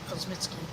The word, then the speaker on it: Kosmicki: Yeah, I'm not familiar with that name, but Kosmicki, or Kosmicki as most people would say, I would prefer the correct Polish pronunciation of Kosmicki.